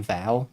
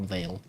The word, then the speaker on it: Veil: I pronounced the game wrong. I kept saying Val. Game is called Veil.